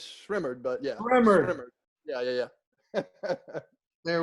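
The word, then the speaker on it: Rae Sremmurd: Is it Ray Samerd, or however you say it? Yes, it is. Oh, You didn't say it right, but it's Shrimmered.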